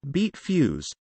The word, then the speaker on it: Beat Feuz: Beat Feuz, German pronunciation, B.